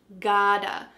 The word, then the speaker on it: gotta: to, we can say gotta. We often write this in a text message or in a quick email as G-O-T-T-A, gotta. What's happening with the pronunciation? That T is changing to a D.